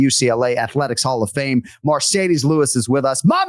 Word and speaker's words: Marcedes: my research is accurate, that it is indeed pronounced Marcedes and not Mercedes like the Benz.